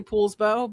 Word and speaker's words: Poulsbo: The first four letters of my last name are p o u, but we it's not pronounced Paul, it's Pool. Yeah, right. A lot of people say Poulsbo, but it's called Poulsbo.